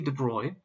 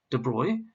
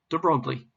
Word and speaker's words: de Broglie: and it was louis de bruy and please note he's a frenchman and the pronunciation of his name is de bruy not de broglie louis de bruy first